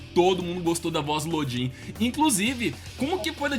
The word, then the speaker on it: Lodin: E ele vai atrás disso e aí, até onde eu sei, ele viu que realmente pra cá ia ser Lodin, não Lodan.